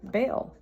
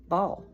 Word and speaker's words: Baal: and they bring sacrifices to bail ball however you want to pronounce it b a a l this is um Elijah